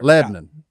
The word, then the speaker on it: Lebanon: Lebanon.